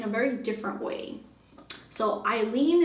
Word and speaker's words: Ailin: very different way so Eileen is traditionally spelled with like e i l e n but my name is spelled a i l i n right and my whole life people have just been mispronouncing my name like all the time and they'd be like oh is your name Alan alen alen Alien like all those different variations right and um yeah